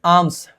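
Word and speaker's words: alms: है उसका Ravan seeks आम्स आम्स basically वक्षा ठीक है भिक्षा मांगना इसमें एल जनरली साइलेंट रहता है ठीक है इसको आलम मत पढ़ना आर्म्स पढ़ते हैं इस डिसगाइज्ड एज अ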